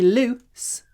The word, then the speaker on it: loose: voiced Z oo o but when we say loose we have a short sound let's short p s